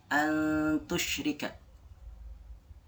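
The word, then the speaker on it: أَنْ تُشْرِكَ: Di sini antusyrika, bukan an ya, bukan an tapi antusyrika.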